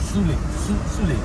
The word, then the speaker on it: Sule: How do you pronounce it? Shule or...? - Sule.